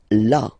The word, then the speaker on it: là: Okay, then là. So remember, you've got this accent, but well, you don't pronounce it.